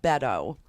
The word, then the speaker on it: Beto: What should we say about Beto? What should we say? First, we should say his name right. It's Beto. Bet, like bet your life on it.